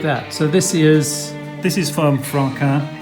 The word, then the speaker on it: Franquin: So this is from Franquin. Franquin. So people that are not too familiar with the name, it's spelt Franquin.